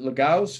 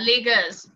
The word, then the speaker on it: Lagos: you are you in is it lagaos is that how you pronounce it yeah lagos i'm not in lagos but